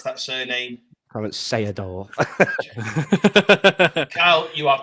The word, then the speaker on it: Seedorf: We can have a little bit of adjudication of how you pronounce that surname. Clarence Seedorf.